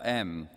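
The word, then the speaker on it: aime: Loves Matilda, the middle M representing the French verb for love, spelt A-I-M-E, but pronounced M.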